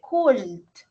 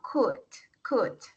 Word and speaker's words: could: Ojo a la pronunciación, no se dice could, no. Aquí se omite la L, sino could, ¿listo? Y se omite la O también, could. Y la D, pues se resalta, could.